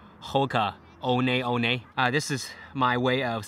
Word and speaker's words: Hoka One One: It's not pronounced as Hoka One One. It's Hoka One One.